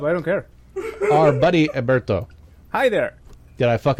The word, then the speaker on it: Heriberto: But it helps that it's kind of like Herbert, but in Spanish.